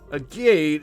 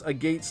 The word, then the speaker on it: Agate: how do you pronounce Agate's name? Agate, like, people are all over like I am. Like the stone.